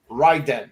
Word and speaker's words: Raiden: because Raiden is pronounced ryen ryen and ryen is the